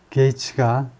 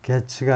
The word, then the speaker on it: Gaetz: 게이츠가 발음이요. 게츠가 아니고 게이츠라고 발음하는데 게이츠가 벤모 페이먼트를 섹스를 위해서 섹스 대금으로 벤모 페이먼트를 보냈다.